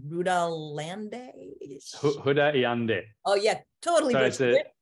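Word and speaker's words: Rudá Iandê: don't know how to say his name correctly rudolande oh yeah totally that's it okay with my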